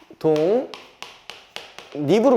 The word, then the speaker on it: 독립: 때에요 독립이라는 단어가 있습니다 얘는 실제로 발음하면 어떻게 되냐 독립으로 돼요 독립 자 여기가 어떻게 변한다 다시 동 립으로 변합니다 됐죠 자 그 다음에